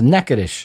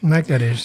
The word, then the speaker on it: Natchitoches: Alors, Natchitoches, si vous le voyez écrit, c'est pas évident que ça se prononce comme ça. Ça s'écrit... Ça s'écrit Natchitoches. C'est ça, oui, c'est absolument pas... Ça se prononce Natchitoches. Natchitoches, c'est ça, c'est des mots, indiens.